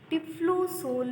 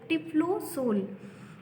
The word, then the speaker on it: typhlosol: Spiral और scroll wall present है, जिसको हम टिफ्लोसोल भी कहते हैं। इट is also called as टिफ्लोसोल। TYPHLOSOL, ठीक है स्टूडेंट्स, स्पेलिंग आप देख लेना। TYPHLOSOL, टिफ्लोसोल।